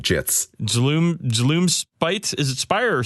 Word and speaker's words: Gits: I don't like doing this too much, but the Gloomspire Gits. Please, it's pronounced Gloomspite Jits.